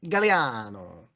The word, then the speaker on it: Gagliano: My last name is G A G L I A N O Gagliano, but it's actually pronounced Galliano.